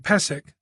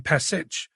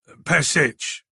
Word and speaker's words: Pesich: She pronounced his name Pesik rather than Pesich, Boyd noted. That was going to bug him. Pesich, he clarified. Hatcher bristled slightly.